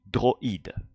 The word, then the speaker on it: droïde: It's an I that is explicitly pronounced I, regardless of the vowel that is attached to it. Unlike OI becomes wa. Here, I tréma remains I, droïde.